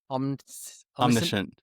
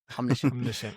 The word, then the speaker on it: Omniscient: Omniscient. Omniscient.